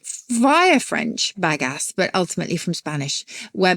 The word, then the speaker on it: bagasse: Oh my It's not gosh. badass, but it's bagass. Is it French? Bagasse? Is it French? It does sound like it should be Bagasse.